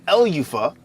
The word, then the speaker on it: Elufah: That's how you pronounce it. It's Elufah, right? Elufah, not Elufah.